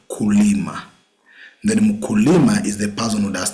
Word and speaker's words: mkulima: Then we have mkulima.